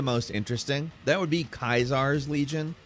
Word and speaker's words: Caesar: That would be Kaisar's Legion, spelled Caesar but pronounced Kaisar by Legion members, a brutal conglomeration of